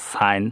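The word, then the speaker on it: sign: এইখানেও জি এনের পূর্বে আই আছে, তাহলে জি উচ্চারণ হবে না, ফরেইন, বিদেশ। এইখানেও জি এনের পূর্বে আই আছে, সাইন, স্বাক্ষর করা।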